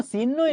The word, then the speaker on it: চিহ্ন: আমরা উচ্চারণ করি চিহ্ন, তার কোনো চিহ্নই নেই। বিশ্বাস করেন ভুল। মনে রাখবেন, চিহ্ন, এই উচ্চারণটা ভুল, এটার উচ্চারণ হচ্ছে চিহ্ন। ঠিক আছে, চিহ্ন না, চিহ্ন। মধ্যাহ্ন ভোজনা শব্দটা হচ্ছে মধ্যাহ্ন, মধ্যাহ্ন।